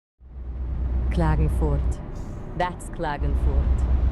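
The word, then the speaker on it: Klagenfurt: How How do you pronounce that? Clagenfort.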